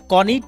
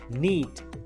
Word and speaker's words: knit: এখানে কনিট না হয়ে যাচ্ছে নিট, নিট।